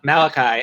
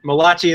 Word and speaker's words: Malachi: Jewish man's name but it's also step it's pronounced now Malachi and it's spelled like that so now Malati is no more it is another knife thrown